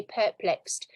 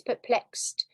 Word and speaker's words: perplexed: Students often say perplexed. It's perplexed. So the stress is on the second.